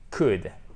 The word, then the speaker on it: could: bien faire les choses, vous dites could, could, could, ok? Sans prononcer le L.